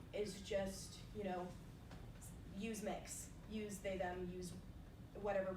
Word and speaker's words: Mx: Mix, MX, pronounced MIX.